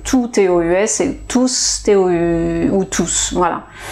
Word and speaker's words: tous: les corps par exemple tous les jours un corps tous les jours tous les mois tous mes amis un non je ne prononce pas le s ok quand je prononce